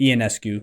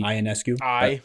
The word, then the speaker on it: Ionescu: recording this, when Sabrina Ionescu, I told you the wrong pronunciation when you asked me before. It's Ionescu? Yeah, Ionescu. But I always, when I read it, I just see Ionescu.